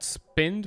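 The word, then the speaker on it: Spedn: see it come up it's called spin but it's spelled weird it's s p e d in not nd that parts backwards and i did download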